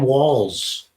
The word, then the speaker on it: Walz: guy uh Governor Tim walls walls is it sound like it should be spelled with two L's and S but it's not it's spelled with one L and onz Tim Walls so he tweeted this